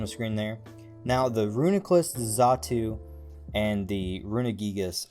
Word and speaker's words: Reuniclus: Reuniclus...